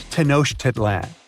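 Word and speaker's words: Tenochtitlan: It's Tanosh Teditlan. And Mayan cities are hard to pronounce too.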